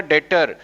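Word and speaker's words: debtor: देखो B silent है इसमें, याद रखना। और सी को क्या बोलेगा? डेटर।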